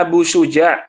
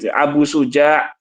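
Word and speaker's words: Abu Syuja': Ee akhbarana Abu Suja mengabarkan kepada kami Abu Suja namanya Muhammad bin Abil Izza. Jangan dis Abu Suja ya, Kang ya.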